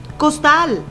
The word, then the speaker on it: costal: Costal. Al separarla en sílabas, costal, nos damos cuenta que la sílaba tónica se encuentra en la última sílaba.